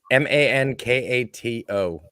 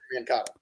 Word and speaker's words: Mankato: Yes, I'm pretty sure Mankato is like the pasta. No, it's Mankato. I'm correct on that, right? Ka or Ko. We'll give it Kato.